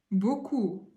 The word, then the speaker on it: beaucoup: Beaucoup, beaucoup, beaucoup. Imagine in French, like beaucoup, beaucoup. Merci beaucoup, beaucoup. It's like thanks a lot, a lot. So how we pronounce it? Beaucoup, beaucoup, like 4 letters.